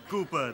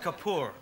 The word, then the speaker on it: Kapoor: So, how is Master Cooper these days? It's pronounced Kapoor, right?